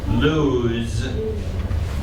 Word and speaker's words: lose: Aaron should lose notice the word lose has a z sound okay lose it's even though it has an o an S and an e we know that usually that o gets a long o sound but in this case you just have to learn that it doesn't lose sounds like lose